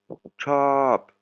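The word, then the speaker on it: ชอบ: Elle va lui demander chop, c'est le verbe aimer. Hein, vous voyez, voyelle longue avec un O.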